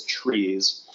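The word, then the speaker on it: TRIZ: It's it's an it's spelled in all caps. T R I Z and I've heard it pronounced as trees or what else?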